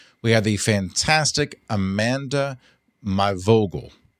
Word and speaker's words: My Vogel: We have the fantastic Amanda Myogal. My Vogal. That was I had to phonetically spell that out so that I would say it correctly.